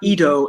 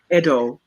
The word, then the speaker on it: Edo: the word edo right it's not ido it's edo um but uh and